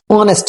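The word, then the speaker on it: honest: करूंगा मैं यहां पे ऑनेस्ट की ईमानदार की तो आएगा मैं एक ईमानदार पर्सन हूं तो आएगा आई एम एन ऑनेस्ट person क्यों शॉर्ट में बता देता हूं एच यहां पे साइलेंट है लेकिन यह जो ओ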